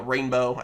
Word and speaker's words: Reign-Beaux: Gold, Silver, Reign-beaux. Again, I believe that's technically how you're supposed to pronounce his name.